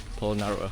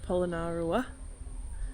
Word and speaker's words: Polonnaruwa: Alright, so we've come to our last stop of Polonnaruwa.